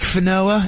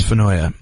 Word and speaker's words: Finoia: He gets in my face and he goes, "Yeah, Mike Finoa," and I go, "It's Finoia."